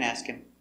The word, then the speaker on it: ask him: And remember, when you have that H for him and her, the H is silent. So it's ask him. No, ask him. Ask him. So no H, Kim.